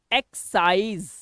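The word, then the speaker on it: excise: लगा हुआ है, लेकिन जब इसका आप उच्चारण करेंगे, इस वर्ड को पढ़ेंगे, तो उसमें एस का साउंड आएगा। फॉर एग्जाम्पल इसको बोलते समय देखिए एक्साइज, यहां पे देखा सा का साउंड आया।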